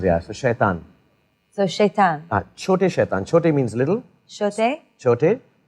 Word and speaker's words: छोटे शैतान: Chote shaitan.